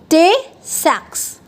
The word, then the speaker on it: Tay-Sachs: सी student, अगर lysosomes अच्छे से फंक्शन नहीं करेगा तो एक डिजीज़ है जिसे हम कहते हैं टे-सैक्स, ठीक है, प्रोनाउंसिएशन ध्यान से सुनना, टे-सैक्स, ओके।